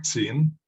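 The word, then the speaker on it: 秦: Esto se escribe así en el alfabeto fonético chino y se lee Qin, es un segundo tono, Qin.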